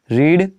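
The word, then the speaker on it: read: अब देखिए एक चीज़ यही बाकी है, पढ़ना, रीड रेड, रेड बोलते हैं, रीड रेड, रेड spelling same होती है, रेड बोलते हैं इसे।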